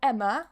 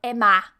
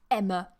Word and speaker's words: Emma: So yes, here we've got Emma, which is with a schwa, Emma. So a lot of people, that's supposed to be a schwa. A lot of people say my name like Emma with a very open ah, but actually in English it's with a schwa, yeah? Emma.